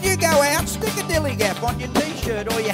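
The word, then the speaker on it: DILLIGAF: relate to their attitude too in a word Dilly Gap that's spelled D i l l i g a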